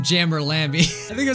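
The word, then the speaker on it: UmJammer Lammy: on the channel um Jammy lammer right no I said it wrong um Jammer lamby it clearly says um Jammer Lamy I think I said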